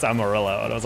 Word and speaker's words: Amarillo: I was like, "Oh, Amaro." They're like, "No, that's not it." I'm like, "That is how you say like, "No, like the town." That's not how you say it. It's Amarillo.